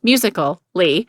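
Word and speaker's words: Musical.ly: who invented tik tok in 2014 a social media app named musically pronounced musical li became incredibly popular with the 13 to 18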